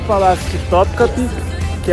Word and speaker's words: Topkapı: O guia me corrigiu na pronúncia, Topkapı.